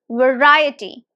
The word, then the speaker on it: variety: is a tricky one this word is really tricky we use it a lot in our conversations variety now can you recognize yes it has four syllables variety and the stresses on the second syllable so stress is here